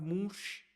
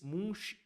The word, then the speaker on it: Munch: que foi o Edward Munch, o norueguês Munch ou Mun, como você queira pronunciar.